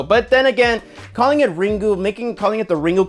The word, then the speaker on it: Ringu: features, they basically yeah, it's the proper way to say it is Ring. So that's how I call these movies, the Ring franchise. So, but then again, calling it Ringu, making calling it the